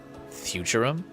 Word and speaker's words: Futurum: Futurum. That's the name of this planet. That's how it sounded pronounced in the local tongue.